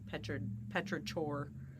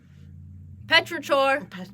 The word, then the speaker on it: Petrichor: Yeah, it also is spelled pretty much how it sounds. It's CHOR. So it's like Petrichor. Petrichor.